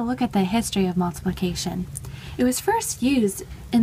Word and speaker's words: multiplicatio: And in Latin, it's pronounced multiplicatio.